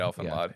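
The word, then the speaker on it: Elfen Lied: That's how you say it, Elfenlod.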